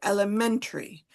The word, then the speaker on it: elementary: Um, Yeah, yes, it's elementary. So the stress is on the men.